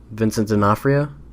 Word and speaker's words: Vincent D'Onofrio: Vincent D'Onofrio. Oh. I thought you mispronounced it.